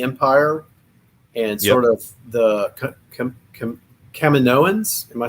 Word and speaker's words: Kaminoan: and sort of the Kaminoans. Am I saying that right? Kaminoan, yeah. I say it wrong a lot, but it is Kaminoan.